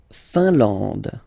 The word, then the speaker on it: Finlande: La Finlande, I-N here, nasal, un, A-N, nasal, en, and then D, final E, not pronounced.